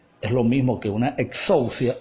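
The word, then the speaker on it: ἐξουσία: En el texto griego, la palabra tiene un sonido como que, así como que exousia. Así se escribe, o sea, traducida pues al español se escribe más o menos como suena. Exousia es la forma como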